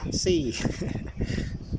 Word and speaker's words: CY: นะ ครับ เป็น daa cy มัน อ่าน ว่า ซี่ เอา เป็น เร ว่า